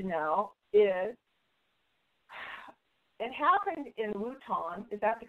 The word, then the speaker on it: Wuhan: But the other thing people need to know is it happened in Wuhan. Is that the correct pronunciation?